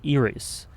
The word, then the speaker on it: Iris: eye reference true interestingly in Japanese her name is pronounced as eries eries uh similar to ff15